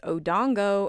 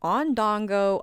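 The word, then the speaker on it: odango: It is odongo and not ondongo.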